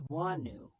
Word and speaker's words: Wonwoo: His birth name is Tolonu, pronounced as Wonu.